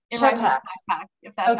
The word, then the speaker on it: Schappach: your last name Brittany it's a doozy it's pronounced backpack okay terrific and then Gabe Lemay um both